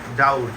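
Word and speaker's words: doubt: ভি টি ডাউট এটা ডাউট বি এর উচ্চারণ উজ্জ থাকে এজন্য ডাউট ডি ও ইউ বি টি ডাউট সন্দেহ নেক্সট কোশ্চেন।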